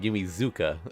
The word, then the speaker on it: Yumizuka: Like you could hear her saying Yumizuka.